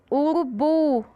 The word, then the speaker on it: urubu: Urubu, urubu. O bu a gente fala com mais força, Com mais intensidade.